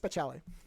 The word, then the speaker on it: speciale: Yeah, no, it's just speciale.